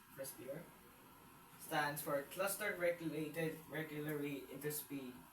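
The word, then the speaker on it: CRISPR: R I C T C R I SPR pronounced crispier stands for cluster regulated regularly interpaced short pilentroic repeats.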